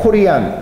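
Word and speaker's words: Corian: 제품이고요 요건 넘어가고요 듀폰의 코리안 cor 이름이 어떻게 또 발음을 해보니까 코리안이 되네요 리안이는 특수한 내장재가 있습니다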